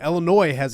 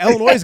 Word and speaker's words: Illinois: a really good team Illinois has a really good team I don't want to the S is silent obviously but the Illinois has got a really good